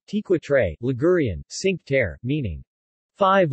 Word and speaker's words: Cinque Terre: the sink terra italian pronunciation tequitre ligurian cinque terre meaning